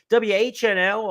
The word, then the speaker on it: WHNL: uh Remsen winner uh whnl a horse who uh is named for the four initials of four of the owners w-h-n-l was the pronunciation Danny gargan sends this